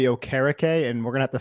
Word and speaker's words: Okereke: saw that signing yeah so I pronounce it Bobby ocarake and we're gonna have